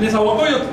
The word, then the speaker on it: Nezahualcóyotl: ¿Nezahualcóyotl? No sé. ¿Cómo se pronuncia? Se pronuncia así. Nezahualcóyotl.